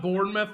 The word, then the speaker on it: Bournemouth: happen but Liverpool versus is that Bournemouth is that how you pronounce that that's correct that's I thought so